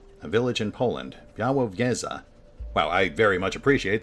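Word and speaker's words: Białowieża: There being Białowieza, a village in Poland. Białowieza. Wow, I very much appreciate that they included a pronunciation guide. Białowieza.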